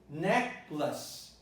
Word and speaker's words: necklace: The other word might entail difficulty for some people because they tend to read lace here when the word is necklace.